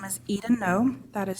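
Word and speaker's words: Noe: Okay, first off, my name is Eden No. That is spelled E-D-E-N.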